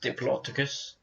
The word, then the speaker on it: Diplodocus: It's pronounced Diplodocus.